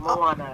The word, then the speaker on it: Moana: Moana's how you say my name, Moana.